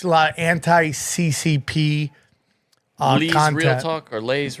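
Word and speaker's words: Lei: It's a lot of anti-CCP Lee's content. Real Talk or Lay's Real Talk? Yeah, I think it's Lee, L-E-I.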